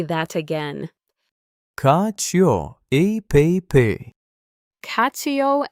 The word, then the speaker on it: cacio e pepe: Cacio e pepe.